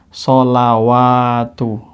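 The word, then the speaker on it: صَلَوٰةُ: Sholawatu. Jelas atau jelas? Sholawatu. Kenapa? Iya, karena ini, lihat, ini fathah. Maka wa-nya dibaca wa. Adapun ini alif kecil. Tadi sama ya, alif kecil. Sehingga bacanya sholawatu. Sholawatu.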